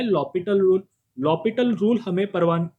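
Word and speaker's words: L'Hôpital: लिखो by using लॉपिटल, लेकिन लिखना है एल हॉस्पिटल, pronunciation is अ लॉपिटल लेकिन वर्डिंग में एल हॉस्पिटल rule, we गेट limit t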